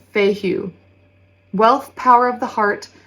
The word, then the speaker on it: Fehu: So the rune associated with the Tower is pronounced Fehu.